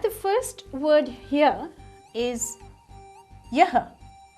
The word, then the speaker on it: yah: The first word here is yah. It's a y and a h which is pronounced as ya.